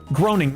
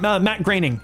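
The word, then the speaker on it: Matt Groening: Uh that would be um groaning. Matt graining. It's graining. It's pronounced.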